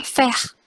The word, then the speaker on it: faire: Jadi ini kalau ada AI dibaca E. Jadinya faire, saison, maison, fongsi. Nah kan jadi otomatis tuh kalau ngelihat AI udah pasti dibaca E.